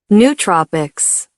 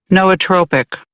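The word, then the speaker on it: nootropics: Noatropic. Noatropic. Noatropic. Noatropic. It's different from this pronunciation.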